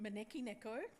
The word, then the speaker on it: Maneki Neko: So to pronounce it again, Maneki Neko. It sounds really sexy when a Japanese person says it. It doesn't sound quite so sexy when the Australian accent says it, but I promise you it is sexy.